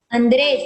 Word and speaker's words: Andrés: Si tú pronuncias así, Andrés nada más, Andrés, ¿dónde lleva mayor sonido de voz? En la dres.